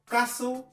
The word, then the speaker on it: castle: Au premier, il s'agira de faire attention à la prononciation de la lettre T dans certains mots comme listen, often, castle, whistle, soften, Christmas, mortgage, gourmet. Voilà comment on prononce la lettre T dans ces mots.